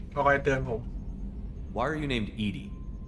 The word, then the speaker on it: EDI: ก็คอยเตือนผม Why are you named Edie? EDI is the phonetic pronunciation of EDI.